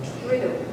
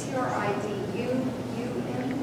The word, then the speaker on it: Triduum: How do you pronounce that word? Triduum? Triduum. Is it T-R-I-D-U-U-M?